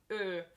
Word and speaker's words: Ö: Let's look at Ö first. So you want to pronounce it like you would pronounce I in girl or E in earl. So girl, earl, it's the same sound.